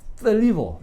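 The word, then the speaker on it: θλίβω: 그리고 협착하다는 말은 떨리보라고 하는, 이게 이제 번데기 발음이에요. 떨리보, 떨리보라는 단어인데요.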